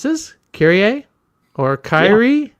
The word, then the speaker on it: Kyrie: But um, it's Kyrie. It's based on Kyrie Eleison, as you would expect.